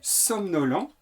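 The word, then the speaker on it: somnolant: Attention, le participe présent est somnolent. Ça se prononce de la même manière, mais ça s'écrit A-N-T.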